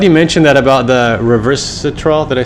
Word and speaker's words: resveratrol: So I'm glad you mentioned that about the resveratrol. Did I say it right? Resveratrol.